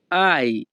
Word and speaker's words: hai: এখানে HAI এর উচ্চারণ হবে আই।